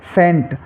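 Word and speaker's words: scent: ऐसे ही सेंट, सी है, सी से पहले एस है, तो यहाँ पर सी साइलेंट रहेगा।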